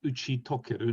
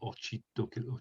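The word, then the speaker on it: 打ち解ける: Let's have a quick look back at the previous examples, because so it's uchitokeru, not ochitokeru.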